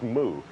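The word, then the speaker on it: Moe: placed third last year she spells her name m-o-e and a lot of people houstonians were trying to pronounce that today and she was called a lot of different things but it is mu that's right you know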